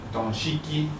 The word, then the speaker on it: dashiki: this is a nice dashiki. And the pronunciation, donshiki. So you see that even the phonetics have shifted to something that's more readily pronounceable by Africans there.